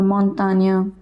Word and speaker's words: montagne: GN is always pronounced as nya. For example, montagne, campagne, champagne, champignon, etc.